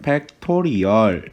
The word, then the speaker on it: 팩토리얼: 했냐면 발음 적어보면 운임을 뭐 너희는 팩토리얼 이라고 읽습니다 이 팩토리 a 양은